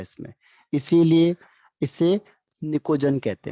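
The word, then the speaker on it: pnictogen: एक और नाम है इसका, इसको कहते हैं निकोजन। पी इसमें साइलेंट रहता है, निकोजन्स।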